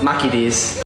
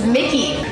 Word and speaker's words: Mickey D's: Where's the M-A? Yeah, I don't think we can give you guys that one. That's an American company, and you guys are pronouncing the letter totally differently. It's Mickey.